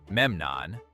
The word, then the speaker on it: Memnon: Like the elevation of Memnon of Rhodes, pronounced Memnon, into a broader coordinating role in the coastal war.